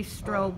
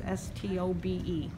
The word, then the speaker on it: Stobe: Jeffrey Sampson, Steve Hathaway, and Jennifer, and I say Strobe, but it's not. It's I have trouble pronouncing it. It's Stobe.